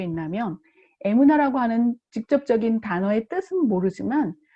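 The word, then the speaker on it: אמונה: 이건 어떻게 읽냐면 이렇게 쓰고 에무나라고 읽어요.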